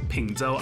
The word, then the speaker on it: Peng Chau: It's actually pronounced Pengzhou Island.